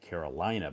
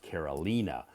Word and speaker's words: Carolina: And so when I see her name spelled that way, I always want to pronounce it Carolina because I'm so accustomed, so used to saying Carolina. But her name is pronounced Carolina.